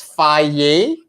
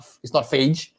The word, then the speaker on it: Fage: And it's pronounced as Faye. It's not phage. It's not fage. It's Faye.